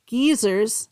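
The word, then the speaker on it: guisers: Geysers, that's what they're called in Scotland. There's it's spelled gu i s e rs, but they're pronounced geysers.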